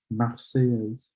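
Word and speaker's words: La Marseillaise: it is the marseilles and he just couldn't pronounce that because of his accent which is totally fine so again it's the maxey is and then um we talked about the date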